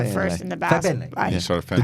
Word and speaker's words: Fagbenle: Yeah, and also like you just can't pause too Fagbenle. long before saying the Fagbenle. first and the last. Fagbenle.